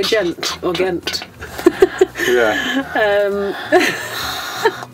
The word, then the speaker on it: Ghent: So, another place we want to talk to you about is Ghent. Ghent. So, it's spelled G-H-E-N-T.